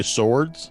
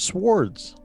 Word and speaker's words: swords: What would you say, swords? Yeah, because that's how it's pronounced. It's swords. It's not swords. It is. The W is not silent. I mean, I agree with you. The W is silent, but is it?